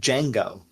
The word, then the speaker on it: Django: So in that situation, the Django, those guys, the D is silent.